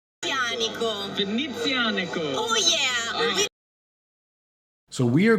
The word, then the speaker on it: Venezianico: Now, I used to pronounce it Venezianico, and I recently learned, surprise, surprise, I was mispronouncing it. So I have it on excellent authority, the proper pronunciation. Venezianico. Venezianico.